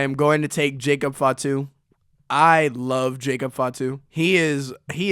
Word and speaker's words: Fatu: Fatu, you said it right. Okay. No, I said fat too, bro.